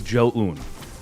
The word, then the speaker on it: Zoun: Technically, the correct pronunciation is Zoun, but it kind of doesn't really matter when every other caster kind of decided it was Zoun, and you look at it, and it's aesthetically Zoun.